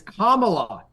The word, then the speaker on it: Kamala: So at somewhere, so I was like, I'm working for Kamala Harris, whatever, and they're like, the woman's like, "You pronounced it like Trump does. It's Kamala."